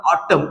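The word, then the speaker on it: autumn: letter केव्हा silent येतो तर पहा या ठिकाणी ऑटम हा शब्द दिलेला आहे आणि ऑटम हा शब्द वाचन करताना ऑटम इथपर्यंत आपल्याला वाचन करायच आहे आणि हा जो एन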